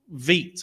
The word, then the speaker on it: Vite: just because, and that's mainly because Vite or Vite. What is it? Which one is it? Vite. Veet. I've only ever heard people Vite. pronounce it as It's Veet.